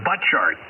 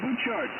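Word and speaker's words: Butchart: yeah thank you w6y is that how you say it boot chart or is a butt chart it's a boot chart Boart okay went there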